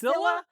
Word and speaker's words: Mesilla: Let's say Masia? Masilla? Masilla.